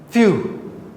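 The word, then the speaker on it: phew: B, few. Few. Now this student might have problem with pronunciation. F, when PH, when English words start with PH, not B, P for pen, PH, the pronunciation becomes F, few, exclamation mark.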